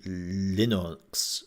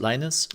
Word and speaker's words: Linus: people do because actually linux linux linux linus linus i always always mispronounce this game i always want to say linux but as linus um